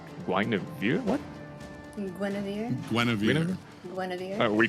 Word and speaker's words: Guinevere: We have the bans in you call how you spell it? Yeah, spell not how to say Guinevere.